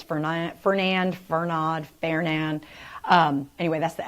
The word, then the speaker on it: Fernand: It's going to be mispronounced, I think, by many different people. It's Fernand.